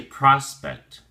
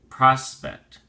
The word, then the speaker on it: prospect: prize so we say prospect prospect they'll say respect and don't say prospect the o is a soft oh so pro prospect prospect and be sure you pronounce the CT sound clearly prospect ok we have um